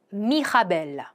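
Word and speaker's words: Mirabelle: 자 첫 번째 미라벨부터 한번 발음을 해 보도록 하죠. 미하 미하벨 그리고 레드클로드 사두입니다.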